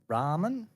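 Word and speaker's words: Raum: Oh, Ramen? How is that spelt? Just to be clear, how is that spelt? Oh, you got me stumped there. It's spelled R-A-U-M, which is Ram.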